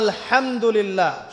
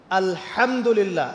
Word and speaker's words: আলহামদুলিল্লাহি: আলহামদুলিল্লাহি রাব্বিল আলামিন এইতো আপনি পড়ছেন আলহামদুলিল্লাহ শব্দটা কি আলহামদুলিল্লাহ এই হা এর মাখরাজ কোথায় হা এর মাখরাজ কোথায় বলেন একজন কন্ঠনালীর মাঝখান থেকে এখান থেকে আপনি উচ্চারণ